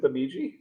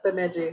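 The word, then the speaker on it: Bemidji: I went through Bumiji. And going through Baiji is where I got my first wild rice bag. How do you say it? Bamiji.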